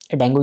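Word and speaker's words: Django: जैसे पाइथन के केस में आप डैंगो यूज़ कर सकते हो, इसको जेंगो बोलते हैं प्रोनाउंस।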